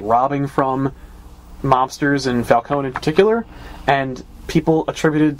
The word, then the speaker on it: Falcone: too we meet Carmine Falone again who was introduced in year one and you keep saying his name wrong it's not heard several times in the movie was Falcone yeah yeah well Falcone